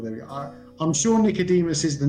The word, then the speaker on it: Nicodemus: I pronounce Nicodemus. How do you pronounce? Pronounce Nicodemus as well.